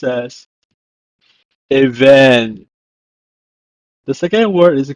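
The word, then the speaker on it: אבן: In Hebrew, it's pronounced as even.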